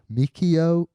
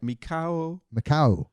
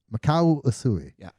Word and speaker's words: Mikao: man his name was hopefully i pronounced this correct mikio yeah you almost got it right mikao makau it was in the